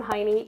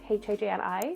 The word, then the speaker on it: Hajni: In case we haven't met yet, I am Heini. Yes, it's pronounced Heini, even though it's spelled H-A-J-N-I, so it's not Hajni, it's Heini.